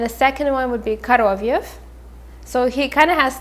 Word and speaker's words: Koroviev: But the first name, again, we will say Fagot, Fagot, and the second name will be Koroviev, Koroviev.